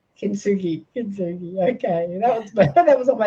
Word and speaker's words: Kintsugi: What's that pronounced as? Kintsugi. Kintsugi.